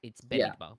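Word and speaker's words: במדבר: Yeah, but if you follow the exact word, it's Bamidbar.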